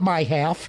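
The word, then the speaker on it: MIHAF: Like everything in Michigan government, you pronounce the MI as my. So, of course. So we call it my half.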